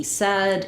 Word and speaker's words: said: rhymes with words like red or head. It's just an exception to our spelling patterns. So he said, it said, she said.